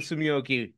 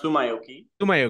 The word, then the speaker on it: Tsumyoki: how does it feel Sumi first of all it's pronounced Sumi sui and just feel so